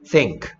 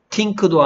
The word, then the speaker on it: think: 합치니까 think. Think. 됐습니까? think죠. 틴크도 아니고 딩크도 아니고 think야. 혀로 살짝 물고 스 해봐. 스. 스. think.